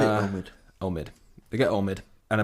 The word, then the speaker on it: Omid: they've got om J yeah I can never pronounce his name just say Omid Omid they get Omid and a bunch of